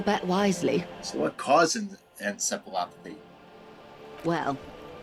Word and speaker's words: encephalopathy: So was this acute encephalopathy? Medical terminology. Encephalopathy. Encephalopathy? Encephalopathy.